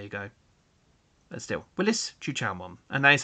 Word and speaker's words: Chuchaomon: It is Chuchaomon, not Zukaomon or Zhukiaomon or whatever other people may want to pronounce it as. And it's Chuchaomon.